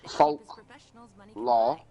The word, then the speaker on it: folklore: Scottish folklore, L-O-R-E, L-O-R-E, It's still pronounced law.